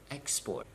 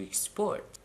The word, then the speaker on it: export: it is very simple for two syllable nouns and adjectives you have to stress the first syllable as I have done how about do too so we talked about two syllable verbs now you have to stress the second syllable for example to present to export to decide to begin